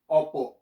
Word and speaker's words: opo: stop okay so instead of oppo you say oppo now another way we say oppo which we